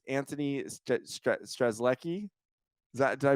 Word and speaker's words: Antoni: we have an amazing guest from Australia it's Anthony is that did I pronounce it right perfect what's what's going on